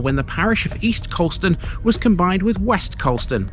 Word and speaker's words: Coulston: Although written down, Coulston looks like it should be Coolston. Trust me, Coulston is how this one is known in the area.